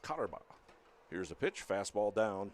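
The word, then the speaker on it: Koterba: Cotterbaugh is spelled K-O-T-E-R-B-A. Pronounced Cotterbaugh.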